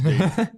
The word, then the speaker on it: data: I pronounce it the way that they pronounce it on Star Trek. So it's data. It's data to me.